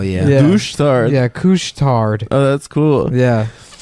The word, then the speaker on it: Couche-Tard: They also have a place that's called Couche-Tard. That's the name of it. But couche is spelled like douche with a C. Oh hell yeah. Yeah. Douche tard. Yeah, Couche-Tard.